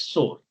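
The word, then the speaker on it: SOAR: And this is known as sore. There is no second pronunciation here.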